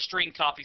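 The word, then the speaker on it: strcpy: of functions available to the program including the string copy function to demonstrate the use of the string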